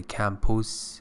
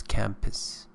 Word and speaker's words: campus: Remember, this is a schwa in pronunciation, so don't say campus, it's campus.